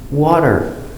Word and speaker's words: water: Water. W. A. Wa. D. Wad. Water. Remember, with the no t, water, American pronunciation, water.